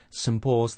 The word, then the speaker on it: St. Paul's: First of all, instead of saying saint with a strong pronunciation, we're using the weak form, sunt, and then we have a n sound and a t sound and the p sound at the beginning of Paul's.